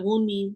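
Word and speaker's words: Wunmi: Yes, I think she pronounces it Wii.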